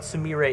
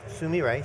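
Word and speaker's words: Sumire: and tell me sum up for me what samira is and what the goal of it is Wow good question simi ray is first of all it's pronounced Sumi right so you're very close it is the Japanese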